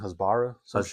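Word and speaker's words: hasbara: creators out there to just vomit out their Hosbbor Hosbra. Am I saying it right? I think Hosbara talking points which is crazy.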